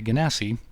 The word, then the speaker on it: Genasi: It's a beautiful deck, a variation on the norm by a Genasi wizard of some repute. And the Genasi, sometimes pronounced Genasi, are basically plain-touched humans.